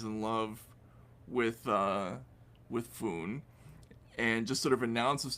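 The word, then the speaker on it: Phuong: points out I was I was mispronouncing the name. It's F, not Fong.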